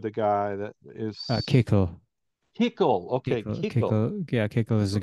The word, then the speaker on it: Kickl: I can never pronounce his name. Bikla? What is it? Mikla? I hope I pronounce it right. Wait, which party? The FPÖ, the guy that is. Kekl. Kickle, okay, Kickle.